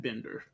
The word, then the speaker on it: Bender: On this side of Colorado, we pronounce it Bender. On the other side of Colorado, they pronounce it Binder. We've always pronounced it Bender on this side, but my cousins have always pronounced it Binder.